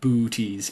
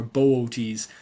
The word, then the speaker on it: Boötes: of a kilt or tunic that uh uh Booties is wearing. The booties void is in booties. Uh that's where it gets its name or Bootees.